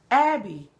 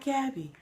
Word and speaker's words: Abby: Just say her name. Abby. Not Gabby.